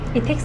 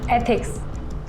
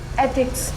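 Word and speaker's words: ethics: इथिक्स नहीं, एथिक्स ऐसे pronounce करो। एक बार बोल के बताओ। एथिक्स।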